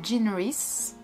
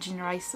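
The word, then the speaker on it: Jean Rhys: annber white sargass aussi de Jean race que j'avais mal prononcé Jean rice auparavant c'est un court roman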